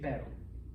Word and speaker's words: pero: butter you can say pero all right that was actually perfect okay that's a little language trick okay the double tea in butter is the double is the single r and espanol this means bud by